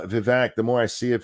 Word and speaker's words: Vivek: more I see of the VAC is actually apparently how you say his name look guys I'm trying to learn uh Vivek the more I see